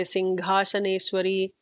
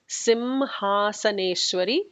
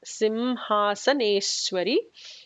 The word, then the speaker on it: Simhasaneshwari: I hear some people say Singhasaneshwari or some other variations of it. But the actual namam that is given as per Brahmanda Puranam by Hayagriva to Agastya is Simhasaneshwari, and it is important to pronounce it like that.